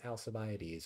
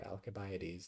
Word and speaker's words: Alcibiades: in the conflict was alcibiades or alkybides depending on how you want to pronounce it so he was